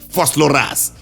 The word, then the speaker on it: Vosloorus: I keep saying Vosloorus with the Vosloorus accent. I don't want to say it as if I'm saying it in Afrikaans, because I don't know how to say it in Afrikaans.